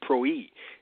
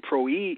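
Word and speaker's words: πρωΐ: is the Greek word PR WI which is pronounced pro e and pro e is talking about the daybreak watch which is the fourth watch of the night which is from 3:00 a.m.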